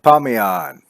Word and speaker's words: Parmian: Permian said, I think I'm saying that right. Is it Permian? Is that how you pronounce his name? Parmian.